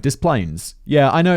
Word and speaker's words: Des Plaines: to say diplo or des plaines or something french but uh david specifically says this is the yankee pronunciation thank you david the